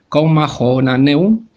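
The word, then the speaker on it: Comma Johanneum: La coma joánica, que en latín se llama así se pronuncia, coma jonaneum, Johanneum, también es conocido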